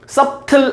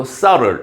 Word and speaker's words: subtle: 발음할 때 하나 조심할 건 이때 B는 묵음이에요. subtle 아니고 subtle 이렇게 굉장히 미묘한 변화들도 감지해낼 수 있어요.